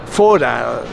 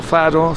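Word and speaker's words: Fårö: sobre la isla de fora donde vivía no faro se pronuncia fora donde vivía Y donde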